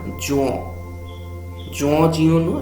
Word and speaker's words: Jean Giono: এবং জিন লেখকের যে নাম সেটা জন জিওনো, এবং প্রভেন্স শব্দটার প্রভাস এরকম উচ্চারণ হবে।